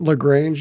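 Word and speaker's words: La Grange: Can you describe to us what the Western Springs, is it LaGrange? Is that how you say it? Yeah.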